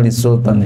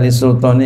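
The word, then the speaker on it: للسلطان: Wa ansada, ini hemat saya bacanya li sultan ya. Wa ansada li sultan gitu. Jadi bukan ansada sultan, bukan.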